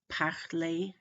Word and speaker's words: parler: If they end in an ER, an EZ, or an ET, which is basically an E with a silent consonant after it, but not including plural S, okay? Not including S's, but these, especially these three consonants, then the word is usually a long A sound, such as regarder, parler, ballet.